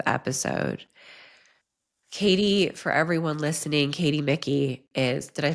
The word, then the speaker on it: Micky: Caty, for everyone listening, Micky did I pronounce the last name correctly?